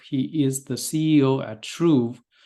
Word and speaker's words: Truv: is the CEO at Tru uh that's spelled truv and we'll talk more